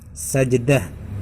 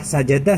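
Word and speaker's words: سجدة: ini membacanya Bagaimana gitu cuman ini cara bacanya itu Sajdah bukan surah sajadah ya karena kan ada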